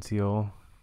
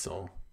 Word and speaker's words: Seoul: you that lives in Seal or Is It soul or seal it's soul soul soul so I've been saying it wrong so the entire time